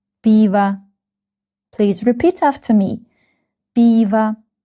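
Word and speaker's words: пиво: Piv again this O is not stress stress is on letter E. So we pronounce and read it like a biva piva.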